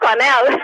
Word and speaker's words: Cornel: I'm supposed to be Cornel, but it's pronounced Cornell.